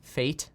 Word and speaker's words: FAIT: flexible average inflation targeting fate that's how you pronounce it but it's spelled fait anyway yeah uh about